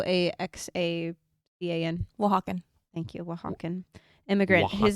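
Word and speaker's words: Oaxaca: Um, I'm going to mispronounce this. Awaken Aakan in Mexico. O ax. Wakan.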